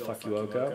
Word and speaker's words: Fukuoka: It does, when you spell it, look like it's spelled Fukuoka, but it's not. Fukuoka.